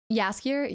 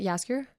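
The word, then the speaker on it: Jaskier: of an accent or anything but tab I pronounced dandelion yaskir yasker yasker yasker that's his actual first name though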